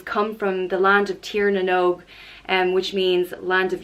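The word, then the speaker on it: Tír na nÓg: Nev and she's come from the land of Tiernan oak and which means land of youth she's come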